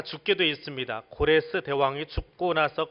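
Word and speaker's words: 고레스: 나라입니다 그 페르시아 제국을 건설한 사람을 성경 해서는 코레스 라고 발음을 합니다 코레스 대왕 이라고 하는 사람인데 이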